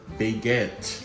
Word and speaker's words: baguette: It's pronounced baguette.